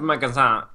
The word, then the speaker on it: magasin: Magazine, which is But then saying magazine just doesn't sound right because you don't normally pronounce the last letter, do you, of words in French?